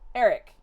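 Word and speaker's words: Aaric: I love So, his name is spelled weird. It's like his name I'll spell it in chat. It's like this. A A R I C. Eric.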